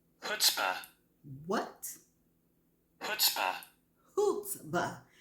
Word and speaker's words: chutzpah: The word is spelled CHUTZPAH, and it is a noun, and it says extreme self-confidence or audacity. Okay, and this is how it sounds. Chutzpah. What? Chutzpah. Chutzpah. The C is silent.